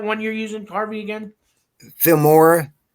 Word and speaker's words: Filmora: you're using harvey again filmora it's like the word film with ora at the end of it okay okay